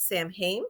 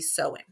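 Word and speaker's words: Samhain: the Celtic Festival and I was calling it Sam hame because that's how it's it looked to me it's actually supposed to be sewing so I was pronouncing it wrong I should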